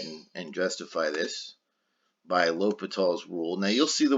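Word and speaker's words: L'Hôpital's: and justify this by l'hopital's rule now you'll see the word lopat all written with or without the s it looks like l'hospital's but it's pronounced l'hopital's so i'll just say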